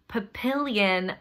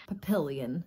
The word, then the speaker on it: Papillion: youtube commenter who says it is pronounced papillion rhymes with a million papillion papillion the correct way to